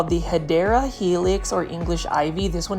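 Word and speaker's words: Hedera helix: hopefully I didn't startle You by saying um hedra Helix that is actually the mispronunciation of hadera Helix which is the correct way of saying it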